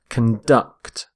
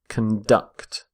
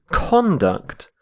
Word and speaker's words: conduct: are conducting electricity so note the stress of on the verb as well conduct conduct stress on the second syllable we say conduct when we're using the noun the word conduct is